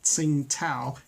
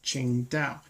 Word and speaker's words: Qingdao: Harrison Ford is saying it's not Tsingtao it's Qingdao but anyway we're not